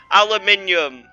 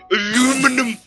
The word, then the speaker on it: aluminium: Aluminium, or as Americans say, aluminum.